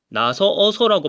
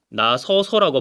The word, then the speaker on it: 나서서: 나서어서라고 발음하는 것은 굉장히 경제적이지 못하니까 나서서라고 발음하게 되는데 그 경우에 어가 탈락하게 된다는 얘기입니다.